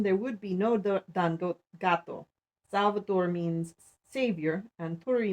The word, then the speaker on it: Gateau: gato mean is french for pastry with cream pronounced gato saborga is pronounced saborga i live on a